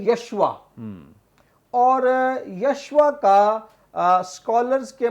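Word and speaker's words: ישוע: اور اب یہ جو نام ہے یسوع، عبرانی زبان میں اس کا جو تلفظ ہے وہ ہے یشوا، اور یشوا کا سکولرز کے مطابق 2 بنیادی اس کے معنی بنتے ہیں.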